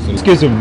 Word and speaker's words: schism: Schism within our family.